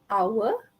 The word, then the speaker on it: hour: Okay, and then we also have silent H. Sama juga, it's quite sad to have students in semester 1, semester 2 and even semester 3 to pronounce honest, power. Okay, it's honest, hour, scheme of work, school and archive.